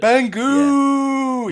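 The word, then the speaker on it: Bangoo: rock story named bangu you pronounce it bangu and well if you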